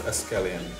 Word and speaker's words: escallion: We call them scallion here, but they pronounce escallion.